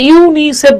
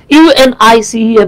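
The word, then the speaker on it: UNICEF: যে আপনি কিন্তু এটাকে ইউনিসেফ বলতেছেন ইউএন আই সিএফ বলতেছেন না তার মানে তার মানে যেগুলো অ্যাক্রোনিম সেগুলো উচ্চারণ হবে শব্দের মত আর যেগুলো এব্রিভিয়েশন সেগুলো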